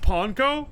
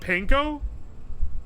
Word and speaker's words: panko: cup thing it's the Jazz cup it's pronounced ponco wait it's not Pinko I thought it was panco ponco okay I'll say it like that I